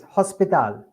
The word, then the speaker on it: hospital: Okay, let's remind you what happened with the H in Spanish. It is H. It's silent. Yes, hospital. Repeat again. Hospital. No, it's silent.